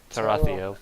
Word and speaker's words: Tarathiel: You don't say it like Rusty, I'll tell you that much. Tarathiel.